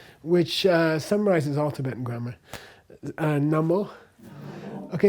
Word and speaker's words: namo: Namo is namas which means I bow to you. Namaste means I bow to you. So namaste. But before uh this voiced uh consonant the us changes to o.